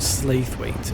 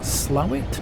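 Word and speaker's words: Slaithwaite: things where it's like you pronounce it the way the locals would pronounce it um which is more like um slow it almost slow it it's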